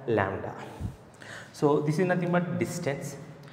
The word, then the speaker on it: lambda: This one pronounced as lambda.